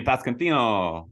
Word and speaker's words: Pasquantino: Vinny Pasquantino. Pasquantino.